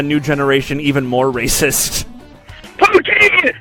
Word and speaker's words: poutine: Poutine! It's pronounced poutine, you fucking idiot!